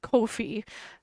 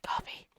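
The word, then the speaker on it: Ko-fi: Or kofi, because it rhymes with no fee. I call it coffee. It's coffee. You're buying me a cup of coffee.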